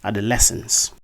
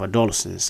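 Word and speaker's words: adolescence: first word is this in this word the primary stress falls on the third syllable that's on the Le syllable uh the word is actually pronounced as adolesence lence instead of adolesence as I know many of you have been pronouncing the second word is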